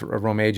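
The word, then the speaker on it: Rōmaji: So I skipped over Romeiji, and or how it's pronounced, Romeiji, because it's basically like that is the English text. Yeah. So I'm reading it in an actual Japanese, type. Romanji, right?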